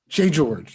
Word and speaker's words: J.George: So then, is it actually pronounced J.George? J.George. It's like it's one word, like Kenta, right?